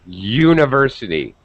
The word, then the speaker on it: university: A university, because there's a Y sound.